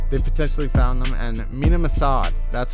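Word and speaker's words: Mena Massoud: ezra and braun they potentially found them and mina massad that's how you say his name assad has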